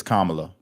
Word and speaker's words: Kamala: FOX NOW was it is it kamla or Cala it's Kamala that's what I said I